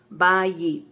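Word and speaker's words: בית: It's ba and then yit, ba yit, 2 syllables.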